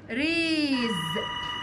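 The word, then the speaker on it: raise: ومنها الماضي الفعل المضارع ريز يربي ريز يربي وخلي بالنا ان الاس هنا بنطقها بصوت حرف الزد ريز يربي والماضي منها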